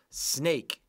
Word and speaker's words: snake: okay let's keep going snake here is our sneaky silent e again snake s an a.k.a stake a snake okay and that's why oops I touched it that's why the a sounds like an a it's not aa snack or anything guys